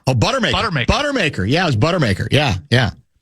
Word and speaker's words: Buttermaker: He's the beer guzzling manager, Coach Morris Budemaker? Oh, Buttermaker.